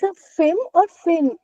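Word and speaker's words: fim: Whenever there is a letter M at the end of the word, we will never close our mouth and say ma. Never. It is always nasal sound.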